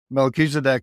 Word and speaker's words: Melchizedek: oh I was not close at all yeah Melchizedek is uh truly one of the Lords of